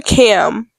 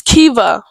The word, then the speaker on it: Kiva: I call her Cam because that's how it's spelled, but I'm pretty sure it's like Kav something. It's Kiva.